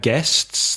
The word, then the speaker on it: guests: at weddings you have guests the people who come to the wedding again careful with pronunciation the spelling gu es TAS but the pronunciation guests guests oh and we have